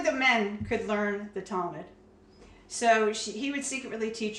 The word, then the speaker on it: Talmud: Talmud, Yes. is that how you say it? Yeah, Talmud.